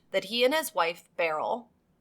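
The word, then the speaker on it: Beryl: But Evans claimed that he and his wife Barl, I know the name sounds a little odd, but it's spelled B E R Y L. It's like Cheryl or Merrill only it's Barl.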